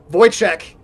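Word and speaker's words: Wojcik: Voyek is her name, not Wick. It's spelled Wick. Voychek, who you recognize now.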